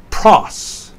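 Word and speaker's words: πρός: The fifth word is a single syllable with an emphasis on the omicron, pros.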